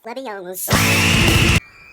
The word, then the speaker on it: Leviosa: It's Leviosa.